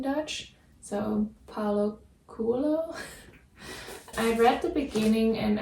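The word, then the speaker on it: Coelho: right but it's Paulo kulo quo like in Dutch you would say kulo cuz o e you pronounce as u in Dutch so Paulo kulo I read the beginning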